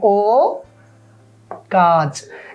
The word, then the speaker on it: অকাজ: আমি কি বলি বলো অকাজ এই নাবোধক শব্দটা হওয়ার কারণে স্বরে ওটা বিবৃত হয়ে যাবে এটাকে নিয়ম বলে এটাকে কি বলে বলো নিয়ম বলে তাহলে এই টার কি কোন পরিবর্তন হবে না এটা উচ্চারণ হবে ও কাজ এই যে হস চিহ্নটা